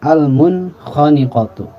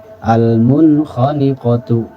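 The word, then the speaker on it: الْمُنْخَنِقَةُ: Nun sukun berhadapan dengan kha, al-munkhaniqatu. Al-munkhaniqatu gitu ya. Al-munkhaniqatu gitu ya. Kemudian contoh yang lain, waliman khafa maqama. Waliman kha, ya tidak makan waliman kha, apalagi sampai mantul. Walimana gitu. Waliman khafa maqama gitu ya. Atau contoh yang lain, yauma idzin khashi'ah. Yauma idzin khashi'ah. Nun sukunnya itu dibunyikan jelas.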